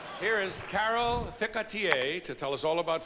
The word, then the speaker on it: Ficatier: Carol Ficatier.